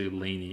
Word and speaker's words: Lainie: Um um is it Lane or Laneany? Am I saying it wrong? I've been saying I've been calling you Lane, I think. But Laney feels like the proper one. The way it's written, it's Laney.